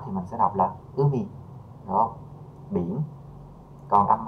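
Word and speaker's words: 海: Và âm nhật của nó thì mình sẽ đọc là ưmi, được không, biển. Còn âm hán của nó thì hải ha, chuyển qua mình sẽ đọc là cai ha các bạn.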